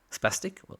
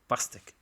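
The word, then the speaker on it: pastèque: Pastic. Sorry. What do you say? P. Go again. Oh, okay. Pastic. Very interesting. P. Yes. Pastic.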